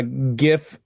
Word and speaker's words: GIF: Okay, now according to the dictionary here, uh, GIF and GIF are both accepted pronunciations.